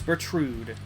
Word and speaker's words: Bertrude: She is rude and that's why her name is Bertrude because it rhymes with rude.